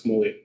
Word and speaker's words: Camogli: Uh correct uh pronunciation is Camogli.